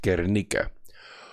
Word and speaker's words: Guernica: There was a city in Spain called Guernica. Or Guernica, okay, we'll pronounce it correctly. And so Franco asked Hitler to test out his blitzkrieg against Guernica, who had declared independence from Franco's fascism.